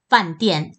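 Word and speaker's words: 饭店: 시설의 하나인 호텔이 됩니다 발음은 반 디엔 판 dl 중국에서 단 접 이라는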